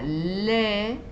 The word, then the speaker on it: lait: Y finalmente tenemos la A con la I, que se pronuncia E, como en la palabra lait, que es leche, français, francés. ¿Ven? Esto suena como una E, français, lait. ¿Sí?